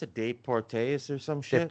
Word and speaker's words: Deportes: ESPN, how do you pronounce it? Deportes or some shit? Deportes.